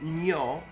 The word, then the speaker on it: Nyo: problem with it um it's nyo as in gnocchi my favorite food one of my favorite foods nyo okay okay like santa